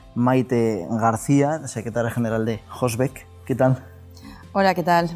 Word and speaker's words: Hosbec: García secretaria general de hosbec Qué tal Hola Qué tal Muy buenos días buenos qué tal Jorge he dicho hosbec pero es hosb la H es muda pronuncia Sí sí me ha